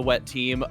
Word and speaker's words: Wet Team: On the blue side, we have Team Wet Team. They really wanted us to make sure that they are pronounced Wet Team, not Team Wet.